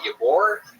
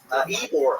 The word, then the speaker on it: Ybor: Ybor? Ybor. Ybor.